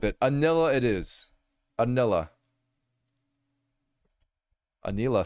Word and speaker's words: Anila: you guys like Anila Anila it's like yeah like Anita but with an L Anila Anila I don't